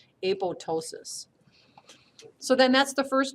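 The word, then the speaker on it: apoptosis: way but it's able the second P is silent a PO ptosis so then that's the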